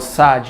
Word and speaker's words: Xagi: It's called Xagi, you know what I mean? It means so bravery. You pronounce X as S.